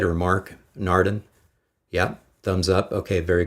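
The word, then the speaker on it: Naarden: uh narden um Kathy am I getting the pronunciation on that right or Mark narden yeah thumbs up okay very good so apparently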